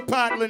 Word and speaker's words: Portland: Y'all gotta do me a favor and let the people coming in the Potland know we took the R out of it. We don't even say it like that anymore. It's Potland.